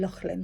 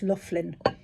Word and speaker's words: Laughlin: i think actually as i was pronouncing lachlan because i knew a horse that was called lachlan but and it's spelt the same way but i'm told it's loughlin um two two persimmon